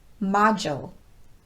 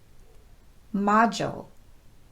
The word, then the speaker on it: module: i need to schedule a meeting with her module module he just finished the last module of his